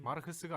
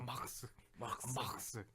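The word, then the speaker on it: Marx: 물론 막스에 대한 그런 마르크스가 아니야. 네, 그죠. 막스. 그러니까 그렇게 얘기를 많이 해요. 진짜. 정확한 발음이야.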